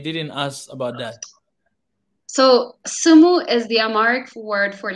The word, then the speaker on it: Semu: So sumu is the Amharic word for listen. Oh, Yeah, how do you yeah. pronounce it? You say sumu. So it's like, so Simu.